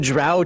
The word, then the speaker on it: Drow: It's Heathen Dog's pronunciation guide coming February 2024. Order now. Act fast, and he'll throw in Drow too.